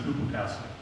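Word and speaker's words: ὑποτάσσω: That's what he pronounces, so I just have to hypotasso. He said hypotasso.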